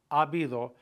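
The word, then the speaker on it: habido: a lot to do abido mucho remember the H is silent so you've got two A's there so it's basically a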